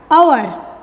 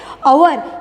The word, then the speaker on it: hour: लेकिन फिर भी हम इसका प्रोनाउंसिएशन कैसे करते हैं, आवर। यहाँ पर ये जो H है वो साइलेंट है, इसका प्रोनाउंसिएशन O से स्टार्ट होता है, आवर, एंड O वोवेल है।